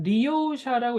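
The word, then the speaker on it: 利用者: 그러니까 뭔가를 갖는 그런 걸 갖는 자, 마지막 리오샤라고 있습니다. 리오샤. 자, 리오는 다 이게 크게 발음해야 돼요. 요자 작은 요자 아닙니다.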